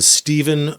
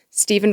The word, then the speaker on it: Stephen: This is the account of one Stephen, Stephen with a PH, with not Chris Farley, but a V instead of an F.